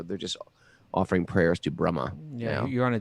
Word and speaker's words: Brahma: Brahma. Brahma. It's got a long A on the end.